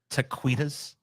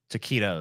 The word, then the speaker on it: taquitos: Taquitas. She said Cinco de Mayo. I can't pronounce anything, Taquitas. and I still know that's fucking jacked up. What would you call these, TJ? Taquitos.